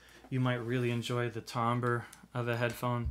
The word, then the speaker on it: timbre: might really enjoy the timbre of a headphone that's spelled kind of like timber with the r and the e switched but tomber is another thing you might get out